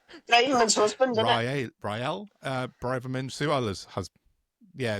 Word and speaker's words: Rael Braverman: from, I always pronounce Sorry, his are you name wrong because I counting? read it as Real Braverman, and it sounds like a third division Spanish football team, but it's Raymond's husband, isn't it? Rael Braverman, Suala's husband.